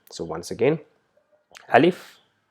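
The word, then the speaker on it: ألف: So once again, Alif is simple to pronounce without any emphasis like a or a. It's just simple Alif.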